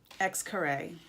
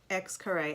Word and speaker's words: Xcaret: So some things that you can do when you're in Cancun are my favorite, Xcaret. It looks like this. Xcaret.